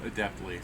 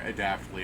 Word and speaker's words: adeptly: Yeah, adeptly. Sorry. Adaptly is what I was saying, but adeptly is the right way to pronounce it.